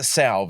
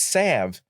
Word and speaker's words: salve: But you don't even pronounce it salv. It's sav.